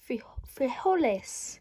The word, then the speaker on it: frijoles: Frijoles.